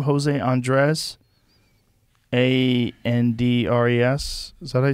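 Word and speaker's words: Andrés: how do you say his last name jose andres a-n-d-r-e-s is that i say his name he's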